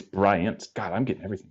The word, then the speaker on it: Bryant: I didn't know was I thought it was Brian it's Bryant okay um I'm pretty sure